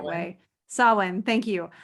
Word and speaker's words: Samhain: Samhain, thank you. I don't want to say it the way it's spelled because I know that's not correct. So Samhain, that is really an honoring of the thinning of the veil.